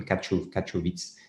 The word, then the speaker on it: Katowice: Ne me demandez pas le nom de la ville parce que je serais incapable de prononcer ce nom, Katowice.